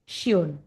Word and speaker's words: schön: S से ha का pronunciation sh की तरह होगा. So the example words schreiben, schön.